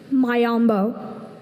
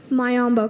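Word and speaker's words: miombo: Mayambo. Mayambo.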